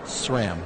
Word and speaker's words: SRAM: at SRAM listen carefully it's not it's not shrimp it's not scram it's not spam exactly just SRAM SRAM is the right way to say it welcome to Good morning